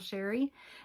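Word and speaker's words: Chere: It is spelled a little fancy but pronounced plain old Sherry.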